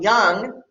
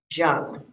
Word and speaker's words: Jung: A very famous psychologist, again, if you want to sound intelligent, educated, you're going to pronounce this as Carl Jung and not Jung.